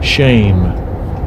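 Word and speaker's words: שֵׁם: Strong's H 8034 shame shame Which is pronounced sham.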